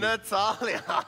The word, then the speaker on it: Natalia: I always keep on pronouncing it as Natalie. Natalia.